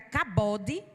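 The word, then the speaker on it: כבוד: Aí no hebraico significa cabode, né? Cabode a palavra, né? A pronúncia, que quer dizer peso, importância e valor real.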